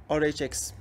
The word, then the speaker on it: RHX: RHX İngilizce okunuyor.